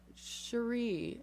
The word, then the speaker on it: Cherie: Cherie, I feel like, is how it should be pronounced. She's in Jacksonville, Florida, which is probably really hot. Love that. Oh yeah, there she is. So Hey, Cherie. okay, she says yes.